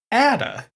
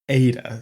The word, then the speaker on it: Ada: that it's pronounced Ada and others saying it's pronounced Atta after doing a quick tally it seems that most messages are saying is pronounced Ada so I'm trying to stick with that alternatively